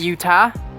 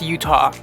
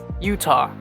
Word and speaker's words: Utah: center agent i had a very hard time pronouncing this one properly it's not utah it's utah utah so tell me in the comment section below